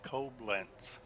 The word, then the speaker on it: Koblenz: It's actually Koblenz. Oh, it is Koblenz.